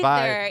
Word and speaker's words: Vi: I said before that my mutant power was pronouncing names, and I said V instead of Vi.